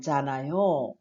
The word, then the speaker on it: 잖아요: 자, 받침이 니은 히읗이어도 히읗은 받침을 하지 않습니다. 그래서 우리가 잘 아는 좋다, 좋다라는 단어는 히읗을 사용하죠. 그런데 좋아요, 그러지 좋아요라고 하지 않죠. 마찬가지로 잖아요도 그렇게 발음을 하지 않기 때문에 그냥 니은 소리로 해서 연결하면 되겠습니다. 자, 잖아요는 다른 사람들이 알고